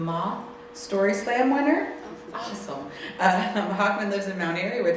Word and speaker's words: Hochman: It is my great pleasure to introduce someone who I didn't ask the pronunciation of their last name. Hochman. Hochman, thank you.